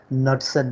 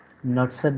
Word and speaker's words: Knudsen: Okay, and that is basically called the Knudsen number. Okay, K is silent here, so Knudsen, Knudsen number.